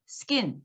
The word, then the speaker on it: skin: 발음하셔야 되는데 앞에 이렇게 S가 붙어서 두 번째 자음으로 등장할 때는 스펜이 아니고 스펜. 우리식으로 하면 쌍비읍. 또 stick 이것도 쌍디읒. skin 쌍기읍 발음이에요. 그래서 어때요? spin, stick, skin 이렇게 발음하셔야 돼요.